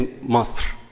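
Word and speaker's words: مصر: Arabic it's called tashkil, like just for the pronunciation, it says Masr.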